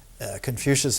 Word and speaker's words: Confucius: Confucius is the Latin pronunciation.